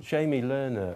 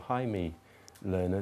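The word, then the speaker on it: Jaime Lerner: uh City and um Jamie learner or Hae learner depending on on how you pronounce it is um the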